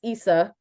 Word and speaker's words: Issa: the with the hard eye Issa with the hard eye is is probably where we need to to start and the audience let her know it uh innerwebs let her know it I was there I was in the audience was there Simeon were you in the crowd were you were you also I I I also screamed out Issa it it's Issa like how do you not